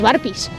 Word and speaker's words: burpees: Y alguno de vosotros dirá, ¿qué es eso de los burpees? Lo primero, y como aclaración, saber cómo se escribe y cómo se pronuncia. Así es como se escribe y se pronuncia burpees.